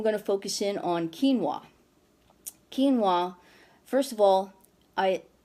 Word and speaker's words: quinoa: today's episode get out how to pronounce quinoa it's quinoa quinoa anyway it's a superfood